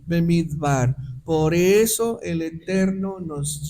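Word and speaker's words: מדבר: es necesario que entiendas pero esas palabras se pronuncian midbar por eso el Eterno nos lleva al Desierto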